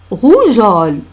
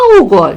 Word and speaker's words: rougeole: Et là, rougeole. Regardez. Ce n'est pas rougeole, non. Rougeole. Pourquoi rougeole? Parce qu'il y a O. Il y a O, se prononce Go. J'ajoute E, se prononce Jo. Rougeole.